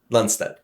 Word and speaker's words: Lundstedt: So you are Philip Lans Lansstead.